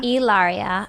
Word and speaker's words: Hilaria: Hilaria.